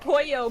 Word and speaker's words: pollo: Yeah, you pronounce the L's like the double L is pronounced like a Y, so it's pronounced Pollo, but it's Whatever.